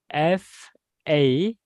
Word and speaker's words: faux: So it means the X is silent.